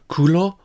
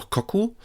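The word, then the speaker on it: 黒: This one has the pronunciation kulo or koku and the meaning black.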